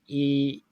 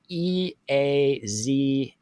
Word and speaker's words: Eazao: And the product, I'm not sure I can pronounce it. Eazio. It's Eazao.